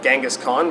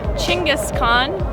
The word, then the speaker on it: Chinggis Khaan: the big dschinghis khan' I always called him Genghis Khan but I think Westerners pronounce his name wrong so we're at this magnificent statue that I am so excited about it's called Chinggis Khaan not Genghis Khan I believe it's actually